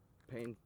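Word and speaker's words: Payne: There was yesterday when I was on 10th South Hill and Pain Street. Keep going down that pain street. P A Y N E. That's how you annunciate it or spell it.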